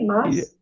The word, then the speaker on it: Mass: If I'm pronouncing that correctly, Mass. Yes, you're correct. That's correct. Um, when are first of all, when are you going to be posting all of this stuff?